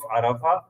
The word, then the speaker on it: Arafah: तो वो गोल ते को वो they used to pronounce it there. Anyway, that is day of Arafah और यौमुल अरफा, ARAFAH है.